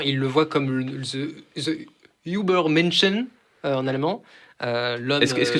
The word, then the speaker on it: Übermensch: J'ai dit Übermenschen. Übermensch. Ah putain, je l'ai mal prononcé, je l'ai prononcé à l'anglaise, c'est ça?